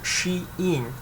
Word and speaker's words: Shein: belongings to the chinese brand called the shane pronounced she in which has rapidly attracted the global army of